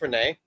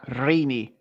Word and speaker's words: Rini: You sure it's not pronounced Renee? Yeah, Rini. R-I-N-I. Rini.